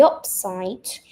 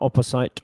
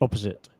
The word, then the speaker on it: opposite: If the picture shows the opposite of what is written in the sentence, you choose false. Yeah, good. Careful with the pronunciation. Not opposite, opposite. Opposite.